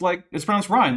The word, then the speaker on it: Ryan: While I was gone, April Van Ryan says Ryan is pronounced Ryan, like the river.